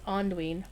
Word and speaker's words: Anduin: But according to Cordovan, when they were recording voiceover for the Vales, he was told by those who would know that it's Anduin.